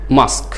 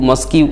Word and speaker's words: mosque: এই যে MOSQUE, MOSQUE, এই বানানটিকে আমরা অনেকে মস্কিউ মানে এরকম উচ্চারণ করে ফেলি আমরা অনেকে, কিন্তু এইভাবে উচ্চারণ না করে আমরা কয়ে যে থেমে যাব, ক সাউন্ডে, মাস্ক মাস্ক মাস্ক।